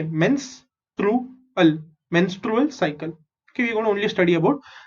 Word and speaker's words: menstrual: MENS, mens, TRU, true, ALL. Okay, mens, true, al, menstrual cycle.